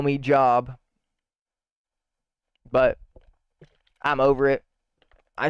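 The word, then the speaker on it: Jób: My name's Job. It's an Old Testament name from the Bible. J-O-B, spelled like job, but it has an accent above the O.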